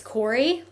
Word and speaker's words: Corry: So I say it's Corey spelled like sorry but with a C and then has two T's.